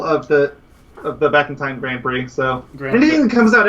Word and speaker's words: Grand Prix: So, by the way, it is pronounced Grand Prix.